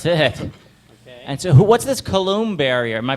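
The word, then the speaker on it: Coulomb: boom that's it okay and so what's this colum barrier am I pronouncing oh yeah yeah kulum is some scientist who was I think the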